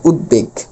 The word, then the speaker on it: উদ্বেগ: দটা আসবে এবং বড় উচ্চারণ হবে। উদ্বেগ।